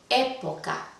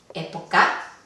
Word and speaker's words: época: intensidad es la última época está en la penúltima época tampoco está en la antepenúltima el vocal entonces la palabra época podríamos agregar aquí entre palabras esdrújulas y tocar porque la